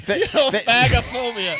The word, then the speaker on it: phagophobia: It was a coin toss, and Phagophobia.